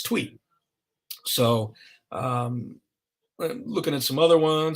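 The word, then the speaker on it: Thuy: about uh tweet trang a lot of people don't know how to pronounce her first name it's tweet so um looking at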